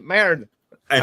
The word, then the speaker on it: merda: I mean, Merd. And I am using a help. Gloommaster is using a help. An Italiano. Merda. Because we pronounce all our letters.